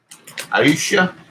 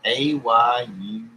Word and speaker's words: Ayush: Aisha, I butchered your name. Ayush.